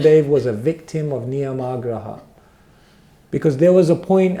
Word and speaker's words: niyamāgraha: But niyamagraha with a long A means you hold on to those things, not understanding the purpose of them and what they're meant to lead to.